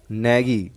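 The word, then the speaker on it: knaggy: नैगी, next word है आपका नैगी। Case आपका साइलेंट है, तो नैगी मतलब क्या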